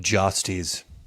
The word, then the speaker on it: Jastes: But if you listen to the audiobook, they do pronounce it Jastes.